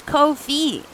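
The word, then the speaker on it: Ko-fi: Coffee, you're in the way of Kofi. It's Kofi.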